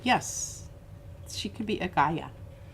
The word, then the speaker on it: Gaia: name anyway uh guia g-a-i-a goddess of nature and earth g eu well it's pronounced g-u-y a-h but yeah yeah k-a-i-a